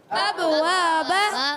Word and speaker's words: أبواب: ہونی چاہیے، ٹھیک ہے۔ ابواب، أبواب، یہ پہلے والا با ساکن ہے تو کیا کریں گے؟ قلقلہ کریں گے۔ قلقلہ کی معنی کیا ہے؟